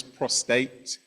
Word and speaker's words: prostate: One is prostate, one is prostrate. Prostrate means to fall down, usually to fall down in worship on your face. Prostate is the cancer.